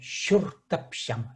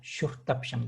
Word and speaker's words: Чуртапчам: Помните, я вам говорил не че, а ще. Шуртапшам. Шуртапшам.